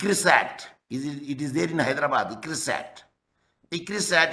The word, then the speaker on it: ICRISAT: ICRISAT is an acronym. It is not an initialization because we are pronouncing as a one word.